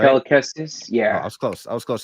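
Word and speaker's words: Cal Kestis: Kel Kestis, yeah.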